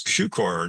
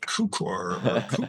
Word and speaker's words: Cukor: mispronounced his name too it's cucar not cuor CER you know people still